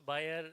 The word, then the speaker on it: Bayer: she represents buyer Bayer how do you pronounce um beay is good be is good I see so it says that it both buyer as well as beer stands corrected so ma'am